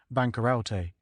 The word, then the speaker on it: bankarote: first folio of Shakespeare the word is printed bankarote pronounced as four syllables but this was altered